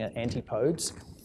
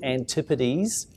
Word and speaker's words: Antipodes: you're drinking Antipodes water a lot of people in this pronounce it New York calling Antipodes it's Antipodes pleased with the Z on the end is the world's best